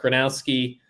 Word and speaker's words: Gronowski: Dakota State quarterback, Mark Gronowski. I always want to say Gronkowski, so I have to look at his name when I pronounce it. Mark Gronowski, not comparing him to